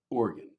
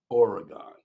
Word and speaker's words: Oregon: you pronounce the word Oregon. There are only 2 syllables. It's pronounced like organ, the musical instrument, or the insides of your body. 2 syllables, organ, not Oregon.